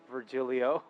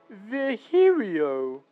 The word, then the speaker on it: Virgilio: now we meet again bartender you look winded virgilio oh God not you again it's pronounced V herio oh shut up dude I'm pronouncing your name